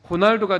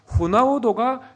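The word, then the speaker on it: Ronaldo: 그러니까 로날도라는 이름이 있잖아요. 이것이 포르투갈의 본토 발음으로는요. 호날두가 되는 건데 그 브라질리언의 포르투갈어 발음으로는요. 호나우도가 되는 거죠. 영어로는요 로날드 이렇게 되는 것이지 않겠습니까?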